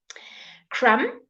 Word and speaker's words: crumb: measurement all right ah Spain good welcome Bita crumb Crum okay the Crum of bread uh ah